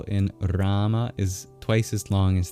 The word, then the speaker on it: Rama: There's the A at the end of Hare, and then there's the first A in Rama. Every other syllable is short, including both syllables in Krishna.